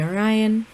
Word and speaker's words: Orion: So I do ask that going forward y'all call me Orion.